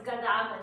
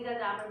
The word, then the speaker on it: Gadamer: the interpretive turn, Gadamer, in German it's Gadamer, so I tend to say Gadamer, but Gadamer said, there